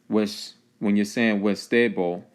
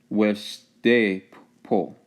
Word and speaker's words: Weshdepo: Okay, when you're saying Westebo, you really should be pronouncing it Weshdepo, Weshdepo, Weshdepo, Weshdepo.